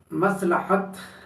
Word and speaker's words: مصلحت: کے ساتھ نہیں بولتے۔ مصلحت، مس تو صحیح ہے لیکن لحت پر آ کر تلفظ بگڑ جاتا ہے۔ یہ سمجھ لیں، یہ میم صاد لام بری ہے تے لام پر زبر ہے، مصلحت۔ اس کے معنی عام